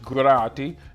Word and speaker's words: Grady: Last name is Grady, which is Irish, Grati, and is more like miracle, but So I do like my name is Grady, and if you can